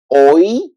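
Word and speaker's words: hoy: there or for example you say oi so the same like I oi what mean oi today oi because the H doesn't have pronunciation o and then E oi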